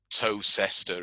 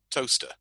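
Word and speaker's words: Towcester: americans have no idea that what's written um toe sester is pronounced toaster or what looks like it's what looks like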